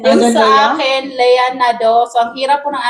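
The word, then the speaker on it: Nadeau: akin, Lea Nado.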